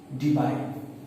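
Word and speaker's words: Debye: हम डिनोट करते हैं डी बाय, okay, डी बाय, depend on your pronunciation. आप इसको डी बाय बोलते हो, डीबे भी बोलते हो, कुछ लोग दूबे भी बोल देंगे इसको, ठीक है, कोई दिक्कत नहीं है।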